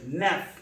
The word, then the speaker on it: neuf: neuf, naf, neuf, naf. dix, this, dix, this. So I think everybody understand the pronunciation from 1 to 10.